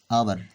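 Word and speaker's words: hour: Example लेता हूँ, हमारे पास एग्जाम्पल है आवर। आवर इसमें देखें एच क्या है, एच हमारे पास साइलेंट है, एच साइलेंट है, लिखा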